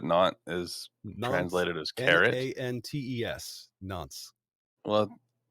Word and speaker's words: Nantes: Nantes, Nantes. Well, Is it S or Z? Either way, it's not pronounced, but it's not.